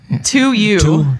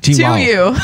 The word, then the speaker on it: 2U: How do you pronounce that? I was trying to figure that out. It's 2U. 2U. T-wow. 2U.